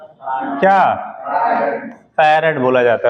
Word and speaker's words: farad: ए लिख लिया क्या, इसे क्या बोलते हैं, फैराड बोला जाता है, ठीक है। अब आपने फराड पढ़ा हो तो वो भी बात अलग है, स्पेलिंग चूंकि वैसे ही है, ठीक।